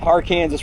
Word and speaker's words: Arkansas: So anyway, we're going to follow the R Kansas River Trail. And yes, that's how they pronounce it in this part of the country.